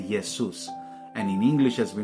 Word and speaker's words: Jesus: German it's spelled with a j and they pronounce the J as a so they'll say yesus and in English as we know it's a